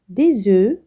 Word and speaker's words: œufs: Un œuf, des œufs. Un bœuf, des bœufs. Un os, des os. On ne prononce pas les consonnes finales.